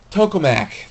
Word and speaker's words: tokamak: new firestorm two point oh okay we get tomiko or so how do you pronounce that it is to the tokamak there we go tokamak sorry if I pronounced